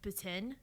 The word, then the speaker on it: poutine: Poutine, because that's how the French Canadians pronounce it.